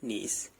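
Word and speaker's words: gneiss: नीस, जिनीसिस। ठीक है, जिनीसिस कैसे प्रोनाउंस करते हैं?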